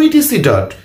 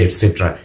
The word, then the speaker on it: etc.: ওকে, প্রথম ইন্টারেস্টিং ঘটনা যে ইটিসি ডট যখন আমরা বাক্যের মধ্যে লিখবো, এটসেট্রা লিখবো, তখন লিখবো ইটিসি ডট, কিন্তু উচ্চারণ করতে হবে এটসেট্রা। ইটিসি ডট উচ্চারণ করা যাবে না।